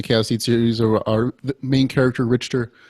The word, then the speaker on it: Richter: series our main character richter has and i'm saying it right for once originally i said richard for like forever into like book four and then and i talked to you and like that that's how you say it our main character